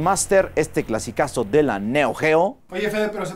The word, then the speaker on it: Neo Geo: vez revisara Spin Master Este clasicazo de la Neo Geo Oye Fede pero se pronuncia Neo Gio cállete aquí tenemos los fatal Fury una épica